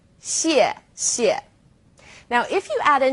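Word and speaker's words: 谢谢: You can think of it kind of like the word she and 谢. Not too hard, right? 谢谢.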